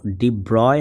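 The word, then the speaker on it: de Broglie: আচ্ছা, এর পরবর্তী প্রশ্ন দেখেন, আলাপ আলোচনা করতে করতে আমরা একটু আগে ডি ব্রগলি নিয়ে এত কথা বললাম, এর পরের প্রশ্নটাই ডি ব্রগলি নিয়ে। এটা কিন্তু ডি ব্রয় হবে সঠিক উচ্চারণ, যাই হোক।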